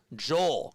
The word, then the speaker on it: Joel: Pronounced just like Hole, but with a J. Joel, got you.